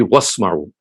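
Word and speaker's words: وَاسْمَعُوا: So basically the word is isma'u, but when you read it by joining it with the letter waw, so then the joint pronunciation would be wasma'u.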